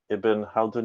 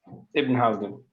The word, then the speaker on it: Ibn Haldun: the Cambridge Delta, and is a lecturer at Ibn Haldun University, Istanbul. Did I pronounce that correctly, Jaber? Yes, it is. Ibn Haldun.